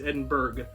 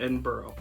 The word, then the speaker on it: Edinburgh: It's spelled exactly the same way, but in central Indiana it's Edinburgh, not Edinburgh.